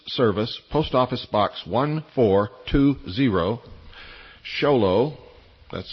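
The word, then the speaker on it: Show Low: And send them to the Intelligence Service, Post Office Box 1420, Xolo. That's spelled S H O W L O W Arizona 85901. That's P. Box 1420, Xolo, Arizona 85901.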